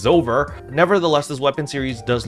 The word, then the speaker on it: Zover: Thank you chat for actually correcting me on how to pronounce this word, because this looks really difficult to pronounce, but it is Zover.